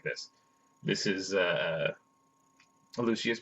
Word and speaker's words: Lucius: in the book that he pronounced it with four syllables and therefore I had